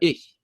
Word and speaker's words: ich: when you're learning German, you have to learn how to say the strange "h" sound, right? Yeah. For ich, right?